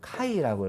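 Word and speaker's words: χ: 그래서 얘는 X라고 읽지를 아니하고요. 그리스 문자로 이 X를 카이라고 읽어요.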